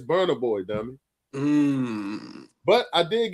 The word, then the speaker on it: Burna Boy: Now, it ain't just your fault, but trust me, I was very tickled watching me say "Bruno Boy" knowing damn well you was talking about Burna Boy.